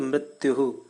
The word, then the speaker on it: मृत्युः: इधर विसर्ग लगा है, दो बिंदु है, तो उस विसर्ग का उच्चारण अह जैसा होता है, तो मृत्युः। फिर है कस्मै, फिर है देवाय, फिर है हविषा विधेम।